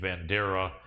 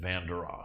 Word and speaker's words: Vanderaa: I remember he said that I think his grandfather pronounced his last name Vandera, but then he pronounces it Vanderaa.